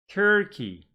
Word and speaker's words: Turkey: Turkey. Good. Here, again, 2 syllable words, but the stress is on the second syllable.